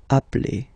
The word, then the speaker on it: appelle: So when you get this E vowel and then you get a double consonant, and well, they are the same, then it does change the pronunciation of E. You tend to pronounce it like really open. That's the reason why you pronounce it appel, okay?